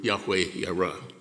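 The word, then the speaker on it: Yahweh Yireh: god's provision ebenezer and jehovah jireh which we now know is better pronounced in hebrew yahweh era these two memorial names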